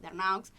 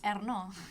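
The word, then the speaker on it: Ernaux: otro día los de ustedes cuando hablaban de Arnaux, que me encanta cómo lo pronuncias. Vos lo pronuncias bien. ¿Cómo se llama? Ay, no sé si se pronuncia bien. Arnaud.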